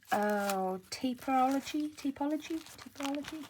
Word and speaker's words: Tapology: These came from Tapology.